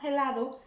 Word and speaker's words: helado: lado remember the room the H is not pronounced at the beginning of the war so that's not helado is a ladder now for the ones